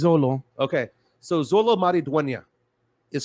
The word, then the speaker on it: Xolo: this name because uh how do you pronounce the first name exolo is it is this solo I think so let me look up his pronunciation again while you look that up uh I'm gonna say I'm gonna call it Zolo yeah it's Zolo okay so Zolo marida